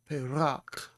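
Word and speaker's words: פרח: an A sound, and it's the plosive P, so it's Pei, and then you have the reish with the patak underneath. So that's an A sound. So it's Pei, ra, ch. Perach, perach, and that means flower.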